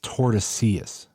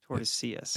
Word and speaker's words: Tordesillas: I think the L's are pronounced. I think it's Tordesillas. Tordesillas.